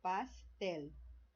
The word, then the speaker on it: pastel: Então, se está na última sílaba, ó, pastel. Pastel. Então, ó, é o tel, é a sílaba mais forte, é a última sílaba, né?